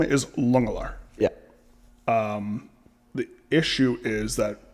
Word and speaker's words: Langelaar: Is it Langelaar? Technically, the Dutch pronunciation is Lungelaar. Like a Lung.